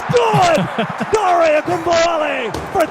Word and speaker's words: Ogunbowale: Dare Ogunbowale. Let's listen to the call on KILT. Ogunbowale, the running back for the lead. Snap is down, the kick is up, and it's good! Dare Ogunbowale for 3, and the Texans are back in front!